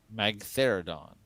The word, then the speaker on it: Magtheridon: How do you pronounce its name? Magtheridon. Magtheridon.